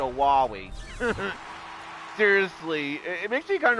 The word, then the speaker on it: Wily: So on that, it seems like the pronunciation is like Dr. Wily, and then in Mega Man 8, Dr. Light's voice actor, yeah, he literally says Dr. Wowie.